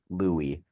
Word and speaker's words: Louis: were a little unsure I can confirm it is pronounced Louie Louie Louie Lou fost um I found a video of him saying his own name and I assume he